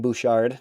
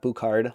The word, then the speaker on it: Evan Bouchard: It's Evan Bouchard, not Bouchard, like I was saying in the video.